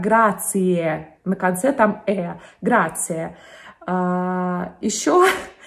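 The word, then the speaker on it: grazie: но тем не менее знаете что слово спасибо в итальянском языке они произносятся как грация а произносится как грации на конце там грация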